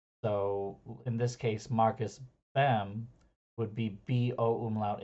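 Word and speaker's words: Boehm: in this case Marcus bem would be b-o umlaut h m um in German characters but in the but because it's being translated English b-o-e-h-m and then people mispronounce it as boom um it's it's in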